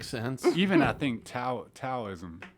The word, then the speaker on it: Taoism: even I think Tower Taoism Taoism doubt there's it's it's relatively you know it's it's pronounced with the D but it's spelled with a tee oh okay yeah Dallas